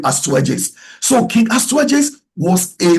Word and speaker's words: Astyages: It's spelled A s t y a g like Ast y a g s, but they call it Astyages.